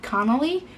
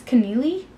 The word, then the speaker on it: Connealy: by Mary Kay Neeley I guess I've been saying her name wrong for like ever I've always said Connelly but I guess it's connealy and the more you